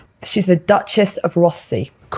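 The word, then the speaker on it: Rothesay: So, wherever they go, I probably mispronounced that now, Richard. Uh any It's Rossy. Rossy. Yeah. Oh, that's what they say out there.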